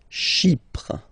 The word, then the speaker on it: Chypre: Chypre. So remember, we've got this Y letter here, but then phonetically when you pronounce it, it's like I, okay?